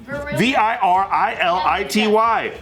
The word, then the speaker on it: virility: like fine i'll tell you no listen virility v-i-r-i-l-i-t-y the quality of having strength energy and a